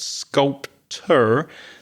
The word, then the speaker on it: sculpture: But there's a ch sound in there. So it's not sculpture. That's the person. It's sculpture. And that ur sound at the end is the famous schwah. The very weak sounding uh sculpture.